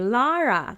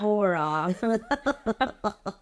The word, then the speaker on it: Lara: So the next day, Lara says you have to smile when you say Lara. It's not Laura.